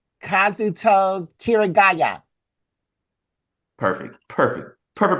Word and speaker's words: Kazuto Kirigaya: Kazuto Kirigaya. Perfect. Perfect. Perfect pronunciation, Jared.